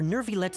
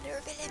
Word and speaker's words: Neuvillette: Both Vautrin and Carol are Neuvillette's most trusted subordinates.